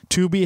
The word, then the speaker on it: Tubi: It's spelled T-U-B-I. Tubi. T-U-B-I. And it's Tubi.